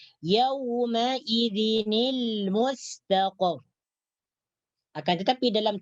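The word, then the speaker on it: يومئذ: yawma-idzin ini boleh dibaca maka nun mati yang terdapat dalam tanwin gunaydin dibariskan bawah menjadi yaumaidzin ilmu steelco akan tetapi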